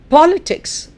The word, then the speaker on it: politics: Politics, the stress on po.